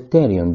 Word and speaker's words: pterion: The pterion, because the P is silent, is the region where